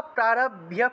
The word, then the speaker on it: প্রারভ্য: জ্ঞাত্বা, জ্ঞাত্বা প্রারভ্য কুর্বীত, কুর্বীত, প্রারভ্য, ভয়ের সাথে জফলা থাকায় ভিয় উচ্চারণ এসছে।